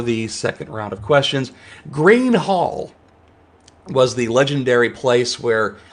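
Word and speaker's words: Gruene: second round of questions green hall was the legendary place where all the fantastics played from jerry jeff walker to garth brooks to sarah hickman it's spelled n g-r-u-e-n-e if you didn't answer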